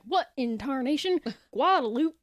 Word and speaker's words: Guadalupe: Where everyone pronounces it Guadalupe. And it is Guadalupe.